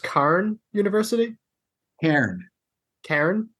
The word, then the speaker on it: Cairn: Cairn. Cairn? Cairn as in the rocks that are on a hiking path that mark the way or whatever. Okay. It's the same. It's pronounced the same way.